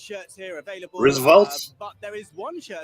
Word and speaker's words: RSVLTS: Because There is I think a it lot is of, pronounced shirts here available. Roosevelt's.